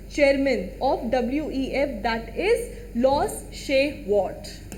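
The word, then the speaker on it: Klaus Schwab: ऑफ WEF, that is loss शेवार्ट. Loss शेवार्ट. के is silent, क्लॉस बहुत लोग बोलते हैं, बट इट इज लॉस शेवार्ट. और ये क्या है?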